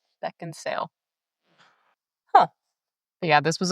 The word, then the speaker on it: Beckinsale: Isn't there a D? There's no D, no. I did not know that. Beckinsale. I have pronounced that wrong for a long time. Beckinsale. Beckinsale.